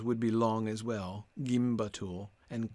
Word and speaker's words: gimbatul: ul yes i agree it would be gimbattle yeah yeah in the end i think i've got to go with that i think i've got to go back to the way i initially pronounced it because i think that that last u is long that's what i'm thinking